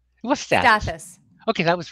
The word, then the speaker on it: Stathas: heard someone say luke stathas do you know pronounce what's that status okay that was right okay anyway um when